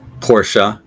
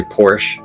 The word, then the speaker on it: Porsche: can spell them all I'm great at spelling pronunciation nah this is an easy one most of us know this is Porsche but other people will say Porsche which is incorrect Porsche I could see how